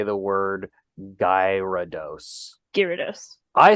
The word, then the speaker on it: Gyarados: correct it is a rude no it's actually Gyarados gyroduce Gyarados I dreaded this day for all my life I don't know how to say the word guy rudos Gyarados I said guyard I've always said Gyarados Gyarados